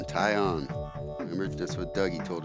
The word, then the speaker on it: Taillon: Taillon.